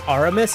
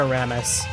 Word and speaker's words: Armus: I think I've been saying it wrong all this time. It's Armus and not a Ramis.